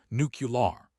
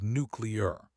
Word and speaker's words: nuclear: The mispronunciation is so common that we've all heard it, nuclear. Even some presidents have said it this way, but the actual pronunciation is nuclear. Nuclear. Explaining carefully, breaking it down. Let's look at the structure. The word is nuclear, which comes from nucleus. When you look at the syllables, it's nuclear, 3 syllables.